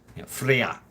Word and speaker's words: Freyja: I I mean it's Freya um but Freya not freyja but Frey the J was pronounced as a yacht in uh in Norse Freya Freya um and then of